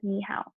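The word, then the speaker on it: 你好: skies to some mandarin to verbally say hello you say me how this is pronounced as nihao when you are greeting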